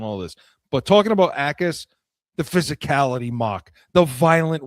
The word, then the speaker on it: Jacas: They got edge in Gabe Jacas out of Illinois, and it's with a J, Jacas, but it's pronounced Jacas, Gabe Jacas.